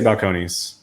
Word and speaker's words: Balcones: Suellen Los Angeles Los Angeles right we say Balcones mmm Kony's yeah I'd be buck lowness okay